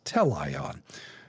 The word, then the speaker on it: teleion: I think I put the emphasis on the wrong syllable before. It's teleion.